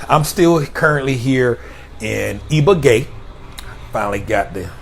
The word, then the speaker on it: Ibagué: But anyhow, I'm still currently here in Ibagué. Finally got the pronunciation right.